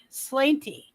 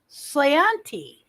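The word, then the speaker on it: sláinte: next occasion I slianti slainty is that s-l-a-i-n-t-e I'm gonna pronounce it slanty Santi sayanti ah all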